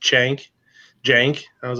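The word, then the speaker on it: Cenk: is cen K and they could pronounce it's pronounced shank shank I was like more like sang to me and then I have a lot of people I've heard they call him chunk so is one of the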